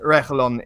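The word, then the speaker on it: Reguilón: Listen, you're not going to be able to pronounce it in the proper Spanish way. So in the Englishy, Spanglish sort of accent, Reguilon is fine.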